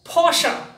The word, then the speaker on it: Porsche: German carmaker so it is for now this Porsche Porsche Porsche yes now the next one it's chinese